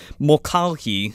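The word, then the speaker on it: Mulcahy: was like is it mccully they probably say it some like similarly but it's like a gaelic last name mulcalchi is how the s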